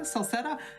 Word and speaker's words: Celceta: to be a race east memories of celceta celceta how do you say that word hey help